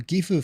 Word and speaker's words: Gifu: Gifu, for example, is actually pronounced Gifu, isn't it? Says Ben CG. That's not exactly it. The whole point is everyone says Gifu.